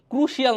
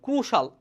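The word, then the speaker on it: crucial: সুন্দর play a ক্রুশাল ক্রুশিয়াল না কিন্তু ক্রুশাল আইটা উচ্চারণ হবে না ক্রুশাল রোল ইন এডভান্সিং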